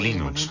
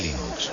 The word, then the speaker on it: Linux: día ya tenías 4000 usuarios internet el de Linux habido como jugar por correo el primer nombre